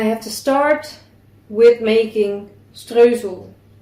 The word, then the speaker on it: Streusel: So I am preheating the oven 350 Fahrenheit or 175 Celsius, and I have to start with making streusel. The Dutch way to pronounce it.